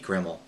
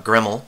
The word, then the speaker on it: grml: to show you uh gremle i believe that's how it's pronounced it's live cd debian